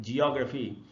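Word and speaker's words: geography: Option B है जियोग्राफी, जिसको हम लोग जियोग्राफी वगैरह बोल लेते हैं, इसका सही उच्चारण है जियोग्राफी।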